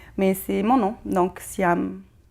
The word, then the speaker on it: Siham: C'est un peu difficile pour moi de toujours partager c'est pas dans mes habitudes, mais c'est mon nom, donc Siam. Siam pour ceux qui prononcent le H.